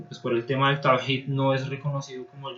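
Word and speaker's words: توحيد: Esta H en realidad se pronunciaría como una especie de J en español. Tawhid significa la unicidad de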